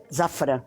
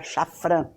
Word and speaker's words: Szafran: origem do nome artístico zafran sz que muita gente pronuncia chfr porque é de de origem polonesa quando eu comecei a